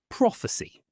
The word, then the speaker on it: prophecy: Prophecy is stressed on the first syllable, prophecy. And jewels rhymes with tools.